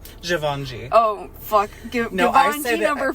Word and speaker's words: Givenchy: Why, it's a Givenchy. Givenchy.